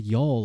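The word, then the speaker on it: Youghal: When I hear the word y'all, I just think of like y'all in Ireland, in Cork. It's spelled Y-O-U-G-H.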